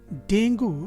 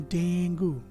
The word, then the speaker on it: Dengue: Actually डेंगू जो pronunciation है वो 3 पार्ट्स में किया जाता है। पहला पार्ट है डेन, दूसरा ग एंड ऊ, तीनों मिलके हो जाते हैं डेंगू।